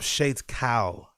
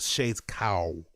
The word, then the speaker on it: Shades Cal: But big up Shades Cal, not Shades Cow. Like I say, Shades Cal, like calisthenics, right?